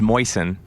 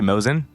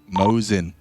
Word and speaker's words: Mosin: I don't think it's Moisen. How do you say it? Probably Mosin. Mosin.